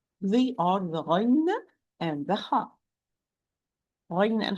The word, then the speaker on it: غ: ha are produced or pronounced from the root of the tongue with the soft palate, in particular, it is the uvula, or in specific, it is the uvula.